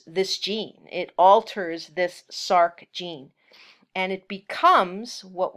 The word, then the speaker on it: src: particular type of gene called sarc src we pronounce it sarc so this is a normal gene this is